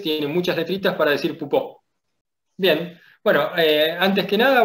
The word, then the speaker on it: Poupeau: Bueno, mis apellidos son, bien pronunciados sería Pupo, porque uno es alemán y el otro es francés.